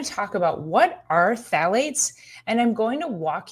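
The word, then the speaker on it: phthalates: to talk today are specifically called phalates that's spelled with a p pth a l A tes the problem with phalates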